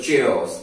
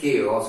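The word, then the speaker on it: chaos: I would call it चेओटिक और चेओस, बट the word is केओस और क्योटिक एंड it will be disorderly and this will be very violent and noisy place.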